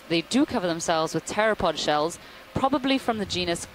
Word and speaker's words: pteropod: by the way is pteropod with a silent p at the beginning meaning wing foot all